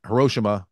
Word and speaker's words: Hiroshima: I think it's pronounced a little differently. Anyway, we say Hiroshima. It's Hiroshima.